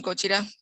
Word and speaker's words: Gojira: Se llama así, Shin Godzilla o Shin Gojira en su pronunciación japonesa.